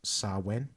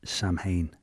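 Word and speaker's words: Samhain: want to have a go the well the pronunciation that we found well through David's research is sawin sawin but if you look at it written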